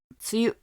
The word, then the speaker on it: 梅雨: 、はい、に雨と書いて梅雨と読みますね。